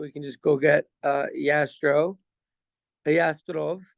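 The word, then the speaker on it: Jastrow: can just go get Yastrov. That's how they say it in Hebrew.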